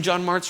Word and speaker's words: Jon Martz: going to realize that my name John Mars rhymes with John farts and that's going to